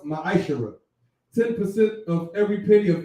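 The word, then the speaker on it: מעשר: It means 10th in Hebrew and is pronounced ma'ashara.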